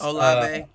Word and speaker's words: Olave: Chris Olave Olave.